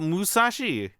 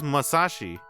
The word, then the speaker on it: Masashi: Oh, dude, did I spell his name wrong? Did I put Musashi? It's Masashi.